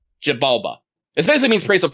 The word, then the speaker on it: Xibalba: Zabala? I believe it is pronounced Xibalba. Xibalba.